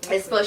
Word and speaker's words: aespa: I think it's aespa. Is that how you say it? Yeah. aespa.